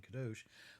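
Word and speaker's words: קָדוֹשׁ: or sacred or holy, the sound of the Hebrew pronunciation, kadosh, might sound like another word that you might be familiar with, you might have heard, because it kind of sounds like kosher, right?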